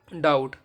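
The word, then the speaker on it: doubt: जैसे यह टी है इससे पहले बी आ गया तो यह हमेशा साइलेंट रहेगा जैसे डी ई बी टी क्या होगा date D ओ यू बी टी डाउट अब डी कहां पर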